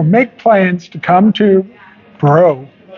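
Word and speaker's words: Breaux: So make plans to come to Bro Yes. Bro Vineyards Vineyards. And you want to give the address 3688 Bro Vineyards Lane. And that's spelled B R E A U X.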